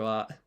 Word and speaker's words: は: I'm gonna guess that this is the wa particle and not ha. So それはいくらですか? いくらですか? Let's take a quick look at the romaji. いくらですか? Okay, so I was right about this being wa.